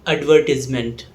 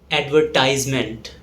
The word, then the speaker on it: advertisement: In British English, it's called advertisement, whereas in American English, it's pronounced as advertisement.